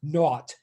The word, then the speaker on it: naught: it out loud is to call it x naught not like which is often spelled that way sometimes it's spelled with a n-o-u-g but not like in